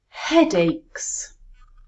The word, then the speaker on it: headaches: let's put them together headaches where is the stress headaches it's on the first syllable headaches let's have a